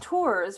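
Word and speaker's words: Tuers: yeah um my uh my birth name is tours which is we spell it t-u-e-r-s which would make you think it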